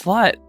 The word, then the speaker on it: slut: Yeah, it's pronounced slut in our language. It's pronounced slut in his.